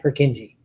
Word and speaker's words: Purkinje: now and it's actually would be pronounced a little bit differently in his native language but most people pronounce that purkinje and the cell body